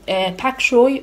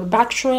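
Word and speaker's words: bok choy: sprouts, I have some pak choy or bak choy. I don't know if it's pak or bak. I'm pretty sure it's pronounced bak choy.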